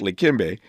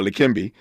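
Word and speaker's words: Leqembi: It's it's pronounced likimbe uh likimbe.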